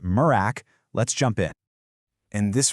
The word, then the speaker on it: MRAC: And you know, first things first, everyone calls it MRAAC and it's pronounced Murrack.